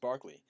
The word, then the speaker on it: Berkeley: at the British philosopher Barkley it looks like Berkeley both I see pronounced Barkley and has a famous